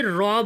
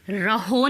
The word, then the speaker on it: rho: बात करें तो इसे रॉ बोला जाता है, RHO। जहाँ पे रहो नहीं बोलेंगे, इसे रॉ बोला जाएगा, H साइलेंट हो जाएगा, रॉ बोला जाएगा सिंपली।